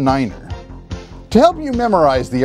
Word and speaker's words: Niner: speech with one exception instead of nine you say Niner all so you pronounce each digit individually so instead of saying 519 you'd say five one Niner to help you memorize